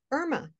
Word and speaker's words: Irma: of this name, but my name is Irma, which is the pronunciation not just in Spanish, it's French, Italian, Russian, wow. Danish. In many countries, the name is pronounced Irma. So often when I introduce myself, I have to explain to people that I'm not Irma, it's Irma.